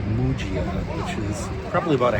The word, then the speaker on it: Muggia: I did have to ask directions how to get to it, and I said Mia, and they told me it's pronounced Mujia.